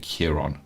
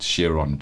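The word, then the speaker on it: Chiron: and Rory speaking about I pronounce it Kiron but shiron sounds just as good the wounded healer you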